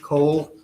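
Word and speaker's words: Cohle: Sir, could you state your name and spell it for the records, please? Yes. with ph Cole C O H L E.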